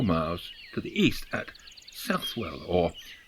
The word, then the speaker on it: Southwell: Nottingham but several miles to the east at southwell or Soule as I'm told it is pronounced it is one of the least visited